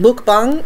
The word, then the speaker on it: mukbang: And of course they're pronounced bong, mukbang, but it's spelt bang, M-U-K-B-A-N-G, bang.